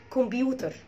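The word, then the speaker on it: computer: تمام، فكلمه كمبيوتر ما اسمهاش كمبيوتر، والله ولا موجوده في البريتش اكسنت ولا موجوده في الامريكان اكسنت برضو كمبيوتر. تمام، فانت لو عايز تنطقها صح انت عندك نطقين ليها، لا اما تقول كمبيوتر كمبيوتر كمبيوتر، وطبعا هتشيل التي وتحط ار، ده بالامريكان اكسنت، علشان التي لما تكون بتوين تو فاولز التي بتتنطق ار او دي، وممكن برضو تقولها بالدي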